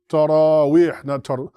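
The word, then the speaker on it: تراويح: That is how you guys are saying it. And this is how it's actually pronounced. Right? It's going to be pronounced actually ta ra we.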